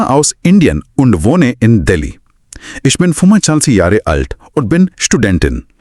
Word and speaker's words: ich: Etch को इश्क की तरह बोला जाता है। इक नहीं।